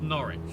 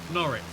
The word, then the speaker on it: Norwich: That's how it's pronounced. Norwich. Um, the uh the city names pronounced without the W.